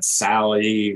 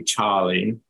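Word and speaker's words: Tsali: and blown away so it's actually pronounced in Cherokee Charlie Charlie was a real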